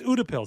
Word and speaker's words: Utepils: Yeah, it's Udapills. That's what I'm going with. I think they agree. Yeah, that that's how it's pronounced.